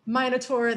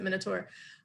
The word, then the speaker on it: Minotaur: with a um with a minur the Minotaur I don't know how yall pronounce it I pronounce it Minotaur um that beast that's